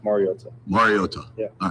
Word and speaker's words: Mariota: Um, I think it's been said over the years like Mariota. Um, which is incorrect and it's pronounced marota.